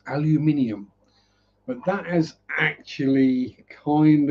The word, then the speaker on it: aluminium: Because when aluminium was first discovered, it was discovered as and known as aluminum.